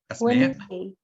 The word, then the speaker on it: Wednesday: So we have no movement after N.